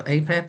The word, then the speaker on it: Apep: I know I think it's APEP, or they usually pronounce it with a hard A. So APEP or Apophis.